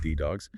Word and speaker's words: DDAWGS: Specifically, we've got sources on this project called Deputy Dogs or, uh, Day Dogs, pronounced D Dogs.